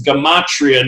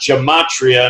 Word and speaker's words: Gematria: recently been corrected, and somebody said, Zach, you got to start saying the word correct. It's Gematria, not Gematria.